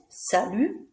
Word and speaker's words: salut: Notice we don't say the T at the end, salut, because it's not followed by an E, so we don't pronounce it.